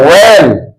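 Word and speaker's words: whale: का उच्चारण नहीं होता जैसे डल एच ए एल ई इसको क्या है वेल वेल के मान क्या होता है एक प्रकार का मछली य पर एक साइलेंट है ठीक उसी तरह से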